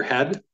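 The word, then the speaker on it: ה: He is pronounced like the H in hair.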